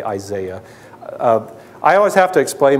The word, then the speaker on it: Isaiah: The prophet Isaiah, or you say Isaiah. I always have to explain myself. I went to school and did my postgraduate work in Scotland, and that's how they pronounced Isaiah, and it just stuck